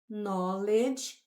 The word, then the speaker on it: knowledge: A letra K é muda, não é pronunciada. No, provavelmente você já viu ou já conhece, significa saber, conhecer. Então, knowledge, conhecimento, eu consigo criar